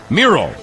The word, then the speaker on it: Miro: So along comes Miro, which rhymes with hero, and he's my kind of guy.